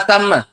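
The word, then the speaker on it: ثَمَّ: Maka tidak ada di sana sama bacanya bukan summa. Fala samma illa hukmullah waasulih.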